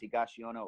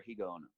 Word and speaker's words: Higaonna: You'll see it either pronounced Higashiyama or Higaonna.